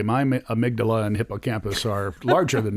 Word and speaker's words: amygdala: The amygdala.